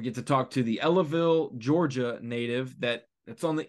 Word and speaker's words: Ellaville: Opens is Justin Barnes from, I think it's Ellaville, Georgia. Is that how you say it? That's right. Ellaville, Georgia, and that is on the banks of